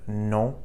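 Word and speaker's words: non: So we say no in English but no in French. So hear that faint N sound no at the end of the word.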